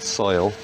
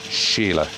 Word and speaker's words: Sheila: wrong quite a bit it's not soil remember it tells you about the father make the letter longer it's sheila right and it means musical